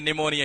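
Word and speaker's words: pneumonia: ये Mrs belt के अंदर कई बार पूछा गया है, क्योंकि इसमें ये साइलेंट रहता है, ये पी साइलेंट रहता है, ये निमोनिया।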